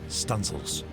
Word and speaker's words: studding sails: She might even run out the stunel booms to set studding sails, pronounced stencils, stencils.